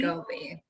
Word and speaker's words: SCOBY: Am I pronouncing that correctly? Yes, SCOBY, SCOBY.